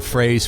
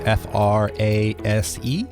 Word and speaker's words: Frase: And Frase, for folks just listening, is F-R-A-S-E, correct? That is correct. Yep. Pronounced like prepositional phrase.